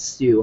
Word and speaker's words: Tsu: that that I'm on called uh TSU it's some people call it sue however you want to pronounce it it's a really awesome